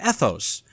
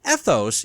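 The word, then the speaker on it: ἔθος: Now this is derived from a Greek word that sounds the same.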